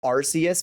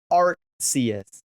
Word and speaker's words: Arceus: Amy told me it's not pronounced Arceus because you have the Arc phone. So Amy says it's Arceus.